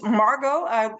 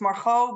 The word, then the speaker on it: Margot: yes no I'm uh my name is Margo without the tea is is a better pronouncing um in in Dutch it's Maro but I can understand it's a little bit hard for for people outside of the Netherlands so Margo is good Margo is good whatever